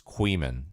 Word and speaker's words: Kuihman: Well, the guy that made the video, I'm not sure, but the person that I'm talking about is Queeman, and it's spelled Kuihman.